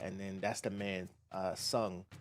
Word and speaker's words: Tseng: I always thought it was Sang or Tseng, but like when you watch the Avalanche children film, they say Sung. So call him Sung. The T is silent, apparently. And then I don't even